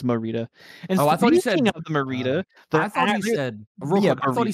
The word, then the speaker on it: Morita: But it's Morita.